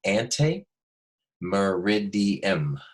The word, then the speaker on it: ante meridiem: a really big reversal ante meridiem everybody say ante two syllables mer rig D em so four syllables anti meridian it's a